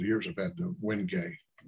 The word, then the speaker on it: wenge: the past couple of years have had the wenge it's called spelled w-g-n-g-e but pronounced when you get it and heavy also